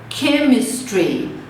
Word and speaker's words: chemistry: Aqui vai ser chemistry. Chemistry, o som de que.